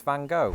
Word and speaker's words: Van Gogh: we agreed with my wife's consensus that it's Van Gogh.